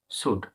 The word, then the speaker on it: should: SHOULD, শুড।